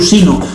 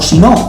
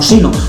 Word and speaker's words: sino: que algunos pronuncian como si no pero no es un sustantivo es una palabra que es llana que es grave que es paroxítona y por tanto no lleva tilde si fuera aguda al